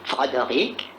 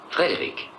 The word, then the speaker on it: Frédéric: Est-ce que vous dites aussi Frodoric? Non, Frédéric. Vous pourriez dire Frodoric Frankenstein. Je regrette, c'est Frédéric Frankenstein.